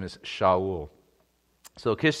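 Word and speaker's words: שאול: the way fascinating the the Hebrew pronunciation for Saul is shaol and it's fascinating that it doesn't actually come across we just translated it transliterated it Saul technically his name is shaol so Kish said to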